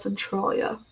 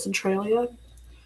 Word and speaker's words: Centralia: I know a lot of people pronounce it Centralia, but the people from there pronounce it Centralia, so it's Centralia. Because it's spelled Central, IA, so Central. So a lot of people pronounce it Centralia for that, but it's Centralia apparently.